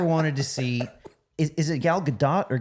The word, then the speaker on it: Gal Gadot: have you ever wanted to see is it Gal Gadot or Gal Gadot I always say it wrong yeah I think apparently it's Gal Gadot but everyone says Gal Gadot so just say